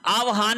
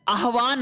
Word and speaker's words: आह्वान: फिर देखिए आहान आहान नहीं होता है। आह्वान होता है। पहले आएगा ह फिर आएगा व आह्वान किसी को बुलाना।